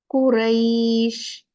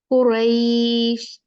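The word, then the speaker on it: قريش: जैसे कुरैश, रईश, कितना कोई सॉफ्ट स्मूथ सा लगता है ना। बैत, बैत, है ना। जैसे आप किसी बच्चे से बात करते हैं सॉफ्टली, तो उसी तरह से जैसे हम इसको प्रोनाउंस भी करते हैं, कुरैश।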